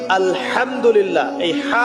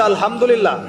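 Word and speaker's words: الحمد لله: আপনি পড়ছেন আলহামদুলিল্লাহ শব্দটা কি আলহামদুলিল্লাহ এই হা এর মাখরাজ কোথায় হায়ের মাখরাজ কোথায় বলেন একজন কংশনালীর মাঝখান থেকে এখান থেকে আপনি উচ্চারণ করছেন আলহামদুলিল্লাহি রাব্বিল আলামিন অর্থ দাড়াচ্ছে সমস্ত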